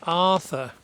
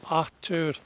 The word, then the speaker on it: Arthur: called Atur Reimagined because my name is Arthur, but the Norwegians pronounce it Artur because they don't really use the letter H in their language. It's like they just don't use it, you know. So they they leave the H out and they call it they call me atur.